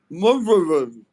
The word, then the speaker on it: Manwant: Finally, someone pronounced my name properly. Manvant, I say your name perfectly. Indu, you say his Manwant. name. Say it again. Manwant. Munvant.